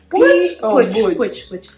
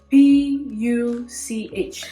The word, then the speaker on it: Puch: It's Puch. P-U-C-H. So for our non-speaking Kale friends, right, we have a problem with P and B. It can be written as P, but it's pronounced as B.